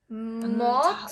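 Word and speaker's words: 못: be an S, but the S in this case is a T. Mot. At the end of a syllable, S becomes T, so it's mot.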